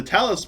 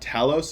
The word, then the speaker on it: Tallis: again Ian's because the Tallis principal so I found out it's not it's not Talos it's Tallis apparently that's how you pronounce it I was just